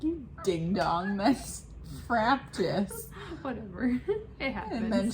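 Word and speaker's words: Frabjous: Fraptus. Yeah. Like from Fraptus Day from Alice in Wonderland. Yeah, see, Yeah. I didn't know. I don't know. I used to call it Frap Joyous, and Lexi heard me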